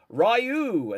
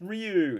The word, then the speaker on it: Ryu: Or Ryu as I should say. Do you know what? Damn that original Street Fighter Vang Dam movie. The character goes Rayu.